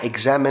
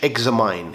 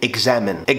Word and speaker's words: examine: كلمه شبهها جدا اللي هي examine، ده برضو نطق صحيح بتاعها examine مش examine، هي التاني examine ان انت تختبر حاجة وإلى حد ما طبية شوية.